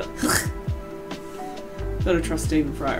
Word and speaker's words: Gogh: QI told me it's pronounced Van Gogh, so that's why I always do the Hoch.